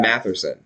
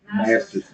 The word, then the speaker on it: Masterson: Matherson? Masterson.